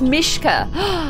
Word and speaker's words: Mishkia: And Mishkia says, hey, Claire, it's pronounced Mishka.